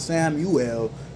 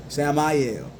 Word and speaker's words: Samael: Not Samuel, Samael.